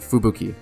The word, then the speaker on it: Fubuki: That's how you say it, Fubuki.